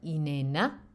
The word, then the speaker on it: inena: We have inena, means to breathe, inena. I should get my stress right, which comes from English in and out.